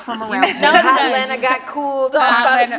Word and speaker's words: Atlanta: But the thing about Atlanta is you got to tell them how to say it. Atlanta. You don't say that other T. That second you never T, say drop that second T. Atlanta.